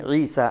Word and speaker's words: യശു: യേശു യേശു എന്നല്ലേ അത് യശു എന്നുള്ളതാണ് അതിന്റെ അബ്രാനി ഭാഷ അറബികൾ ഉച്ചാരണത്തിന്റെ എളുപ്പത്തിന് വേണ്ടിയിട്ട്